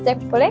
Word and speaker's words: zeppole: Zeppole?